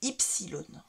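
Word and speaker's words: ύψιλον: comme un Y et en grec moderne se dit non pas silon mais ysilon ensuite vous avez le euh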